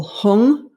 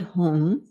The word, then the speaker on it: hung: going to work with the syllable hung like h-u-n-g or h-u-m and as we sound home i would like you